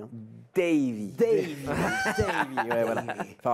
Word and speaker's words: Davy: Par contre, on a bien prononcé ton prénom, hein, Davy. Hein. Davy.